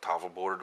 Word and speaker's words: Tawlbwrdd: the the name of tava board which is the uh welsh word and welsh pronunciation um of this game